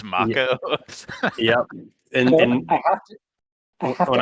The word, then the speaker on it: Mako: acting and you're like, wait a second, it's Mako.